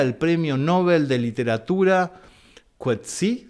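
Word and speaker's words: Coetzee: Por ejemplo, ¿qué me iba a imaginar yo que un día el Premio Nobel de literatura Quetí se pronuncia así, Juan? Quetsé.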